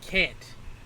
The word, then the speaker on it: CNT: Now we get Can't, but it's pronounced, well, not pronounced, but it's written out as CNT.